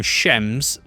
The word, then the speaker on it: Shems: Another funny bit in the book is that they also call them shems and even spell it out s h e ms. Shems. So you can hear it as you read it, which is nice.